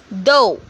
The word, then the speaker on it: dough: Neighbor, slight, dough, way. Over here, you can see GH is silent in each word.